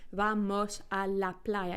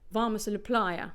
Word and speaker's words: Vamos a la playa: beach um so here all the syllables are spoken fully Vamos a la playa even when they're not stressed because it's a syllable to our Spanish as a syllable timed language so if we were to say this with a very English intonation it would sound like Varma Playa or vamacilla Playa so the